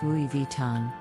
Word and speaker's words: Louis Vuitton: Brand's most iconic designs moving on to Louis Vuitton this French luxury brand is often mispronounced as but the correct pronunciation Louis Vuitton the brand is known